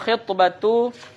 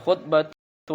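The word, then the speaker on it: خِطبة: Kemudian wal khitbatu ala khitbati akhihi. Nah, itu bacanya Bapak Ibu. Kalau misalkan nggak ada barisnya, terbaca pula khutbah, ya kan? Wal khutbatu ala khutbati akhihi.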